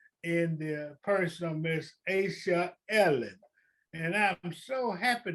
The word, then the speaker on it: Asha: I used to call Asha, Aisha, and all those other things. But she finally corrected me one day and said, Mr. Haversham, it's Asha.